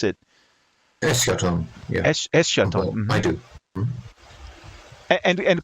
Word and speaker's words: Eschaton: Eschaton. Yeah. Eschaton. I do. And Kostas. I pronounce it Eschaton because it's Greek, so it's like.